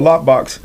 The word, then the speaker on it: Loqbox: I don't have Kovo, and the last one is Lockbox. It's spelled Loqbox. So Lockbox, same thing.